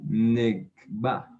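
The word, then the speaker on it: נֶגְבָּה: Y para decir sur, decían Negba. Negba. O hacia el Negev.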